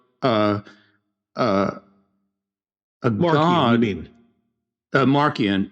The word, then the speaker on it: Marcion: refers to him as Marcion. Okay. But I don't know why the soft C because in Latin it would be a a hard C. So it's Marcion, right?